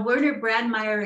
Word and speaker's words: Werner Brandmaier: always have just heard your first name so werner brandmeyer is a researcher of subtle earth energy fields